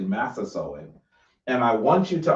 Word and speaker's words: Massasoit: Massasoit.